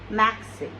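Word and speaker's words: merci: So, maxi, here R is giving Ka sound, Kha sound. Basically that is Khe in Urdu, but in English you can say Ka sound, maxi.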